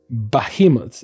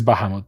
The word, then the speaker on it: Bahamut: So very very orov acolyte of bahimoth technically it's Bahamut but you know got